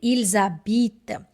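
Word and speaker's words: ils habitent: Even letter ash is also silent in the beginning. So it's simply il zabit.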